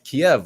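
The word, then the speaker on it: Kyiv: it's now keith so i think keeve is the proper pronunciation but it sounds like you know what you're doing when you're leaned over a toilet um but nonetheless kiev was actually a lovely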